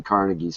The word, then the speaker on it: Carnegie: families is most likely Carnegie's family I would say from the Muslim you don't know who Andrew Carnegie is either you wouldn't be laughing right it's pronounced carnegi whatever Cari you're laughing